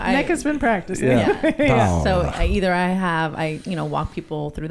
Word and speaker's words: Paola: So we would say hola, Hola, Hola. Paola. Paola.